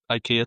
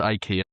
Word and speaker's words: IKEA: IKEA trip.